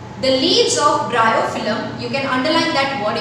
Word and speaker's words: Bryophyllum: The leaves of bryophyllum. How will you pronounce it? Bryophyllum.